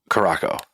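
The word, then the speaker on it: Curaçao: the it's blue cirel but you went to Caraco carasel is the is name Caraco that's how they pronounced it who does who's they Who you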